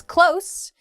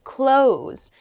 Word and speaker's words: close: a bath next is close meaning to be near uh and the other pronunciation is close meaning to shut or it can also mean to end um so in a